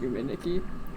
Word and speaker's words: Yume Nikki: is so big also I know that Yuki is just pronounced yum Niki uh but for the